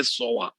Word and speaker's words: SOA: pronounce like that only they make uh abbreviations as pronunciations guys they never say sa they always say soa so when someone says